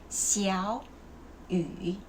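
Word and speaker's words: 小雨: when this character and when the first character and the second character, both of them have the same third tone, you have to change the first character to the second tone. That's why the pronunciation is going to be 小雨, and this you don't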